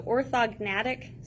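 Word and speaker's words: orthognathic: way to page 721 our last section so orthognatic surgery that is how you pronounce it so this one is to correct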